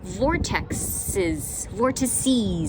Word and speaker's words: vortices: Now, if you don't know anything about Sedona, it is actually world famous for its vortices actually is the correct pronunciation for multiple vortexes.